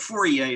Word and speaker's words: Fourier: to the philosopher for four year um but fourier is the pronunciation um who is a utopian philosopher and